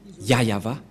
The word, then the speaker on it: Yahvah: voit rien et donc c'est bien la pronciation de son nom yayava voilà le ya et